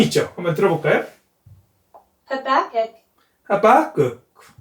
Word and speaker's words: Habakkuk: Habakkuk. 하박국. Habakkuk. 하박국. 하박국. Habakkuk. 하박국. 어쨌든 중요한 건 두 번째 액센트가 있는 겁니다.